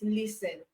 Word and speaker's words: listen: C also all right so for T in listen you do not pronounce it you don't say listening the word is listen so listen CLE T